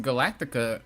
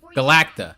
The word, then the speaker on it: Galacta: always come true cuz Galactica. Galactica. I always call her that. Um, what is her name? I always call her Galactica, but I think I added an extra syllable.